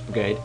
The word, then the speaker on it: Brigade: I've always pronounced it Briage, but it's Brigade.